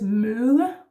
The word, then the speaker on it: møde: And then the soft D again, møde. Keep your tongue down, it's important. Otherwise you would go mølle, almost like a mill.